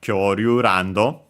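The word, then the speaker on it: 恐竜ランド: But yeah, most like Kyoryu Rando, so the accent on the ra.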